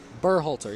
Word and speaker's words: Burrhalter: net burr halter save burr halter burrhalter burr holter yes that is how you pronounce it uh i i almost